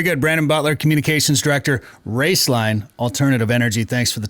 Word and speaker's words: Roeslein: and uh so uh the name is raceline but it's spelled r-o-e-s-l-e-i-n and then Alternative Energy so raceline Alternative Energy yeah I had to practice